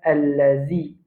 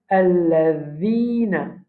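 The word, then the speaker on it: الَّذِينَ: Beaucoup de monde quand je lis le mot alladhi, je dis allazi. Allazi, c'est pas bon. Nous la langue, zal, quand nous prononçons, qu'est-ce la langue comment on veut prononcer, zal. Mais la langue, il dépasse les dents un petit bout. Alors, nous dit alladhina, alladhina.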